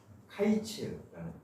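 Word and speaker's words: קיץ: 그러니까 히브리어로 여름과일은 카이츠라는 단어예요. 그리고 끝이라는 말은 케츠, 자음이 같고 발음이 유사해요.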